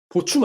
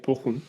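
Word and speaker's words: Bochum: 보춤 아닙니까? 보춤? 복염이죠? 파우에펠 파우에펠 복염이죠? 보첨 아닙니까? 보첨? 아무튼 네. 네. 정확한 발음은 이제 보훔입니다. 보훔. 네, 보훔.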